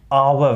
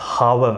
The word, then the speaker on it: hour: So now this is pronounced as hour, not hour.